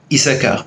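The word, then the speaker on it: Issachar: et il se classe avec deux chine c'est la seule seul mot il ya deux chine et qui se prononcent pas et donc on dit yach sahara issacar il y à une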